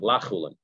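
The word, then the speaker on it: לחולין: Lechulin, according to the girsa that it's lechulin, you have to pronounce it lachulin, because it's not chulin.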